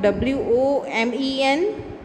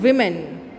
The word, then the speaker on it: women: Okay, and what is the pronunciation of W-O-M-E-N? It is called women, not woman.